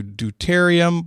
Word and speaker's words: deuterium: one the one that says the d sure d e u t e r i u m and if there is a better pronunciation for it i apologize that's just me